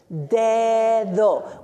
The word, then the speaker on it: dedo: Did you know those 2 D's have 2 different sounds? The first D sounds like the English D. Say the first syllable, de. Now say do. Dedo. When the letter D in Spanish is between 2 vowels, it says th, like in English.